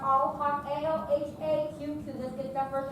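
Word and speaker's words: Alhaqq: And my last name is pronounced Alhaq, A-L-H-A-Q-Q.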